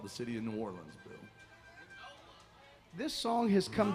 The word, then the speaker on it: New Orleans: correct yeah I guess New Orleans New Orleans no if you're from New Orleans they say nawlins but you got to be from there to know how to say it the right way you know if you're